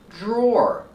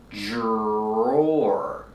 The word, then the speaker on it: drawer: The dr makes a J sound with a voice like juice and jump. J plus the R J. And the or like floor and more. Put it together. Drawer.